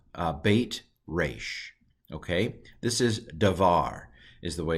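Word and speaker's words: דבר: to pronounce it because it doesn't have a dot in it I'm going to pronounce it like a V and then this is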